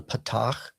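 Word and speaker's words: פַּתַח: It's got the kind of the dash underneath here, and that's called a patach, and that is pronounced like the A is in bat.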